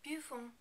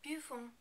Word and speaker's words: buvons: Remember, in the new form, we don't totally pronounce the last n because there isn't a vowel after it. Nous buvons, nous buvons.